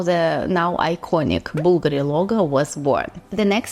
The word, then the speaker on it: BVLGARI: They changed the Bulgari name, and instead of the letter U, they put the letter V because in Latin it is pronounced as U. That's how the now iconic Bulgari logo was born.